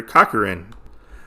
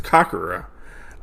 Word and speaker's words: Kakura: they're trying to capture kakarin as uh gji and his men are uh going after kakura I always say kakar and it's kakura um I I'm going